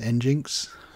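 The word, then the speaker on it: NGINX: and Linux ngo NX i think that may even be pronounced in jinx it's been around for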